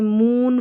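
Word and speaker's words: moon: Double O के दो मुख्य उच्चारण जैसे मून फूड स्कूल में डबल ओ को बड़े ऊ की जैसे पढ़ा।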